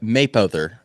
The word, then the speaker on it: Mapother: Maperton, That's how you pronounce that? or I It think ends in an R. Mapother, or Mapother.